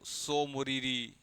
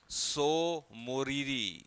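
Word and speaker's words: Tso Moriri: रहते हैं सो मोरीरी एक्चुअली तिब्बती भाषा में यह सो का मतलब होता है झील spelling goes like T एस ओ सो ठीक है अच्छा इसमें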